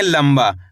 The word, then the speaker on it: लंबा: लंबा। दोस्तों इसके अंदर आधा म का उच्चारण हुआ है। इस तरीके से पढ़ा गया है ये शब्द लंबा।